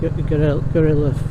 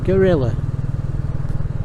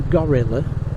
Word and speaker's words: Guerrilla: You know, it's Guerrilla. I suppose Guerrilla as opposed to Gorilla. Gorilla being the ape.